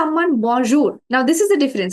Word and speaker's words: bonjour: Bonjour. Bonjour. It's not jour, Bonjour. okay? Jour. So say it Bonjour.